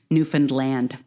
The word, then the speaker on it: Newfoundland: To piggyback on that, our Canadian listeners will probably before you write, I know, but a lot of Americans don't know, it's pronounced Newfoundland.